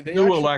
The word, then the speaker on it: Nooelec: Yeah, they Nuelec actually, is spelled Nooelec.